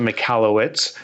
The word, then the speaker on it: Michalowicz: with the British accent so I pronounce it mallwitz like you said uh the original pronunciation I believe was m it's from Eastern Europe Ukrainian you know Russian area yeah and what's the